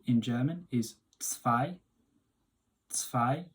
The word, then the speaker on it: zwei: 2 in German is zwei. Zwei. The Z here is a TS sound, the W is a V, and the I, obviously